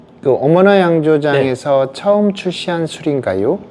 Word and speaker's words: 어머나: 한국어는 어머나로 했고 발음은 이제 일본 사람들이 어 발음이 잘 안 되거든요. 어 발음이 없어서 어머나라고 자연스럽게 어머나 해도 어머나라고 발음하게 되는 건데 한국말로 생막걸리 비 오는